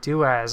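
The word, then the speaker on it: doas: I like that um daaz daaz okay yeah that's how you say it do as okay I like that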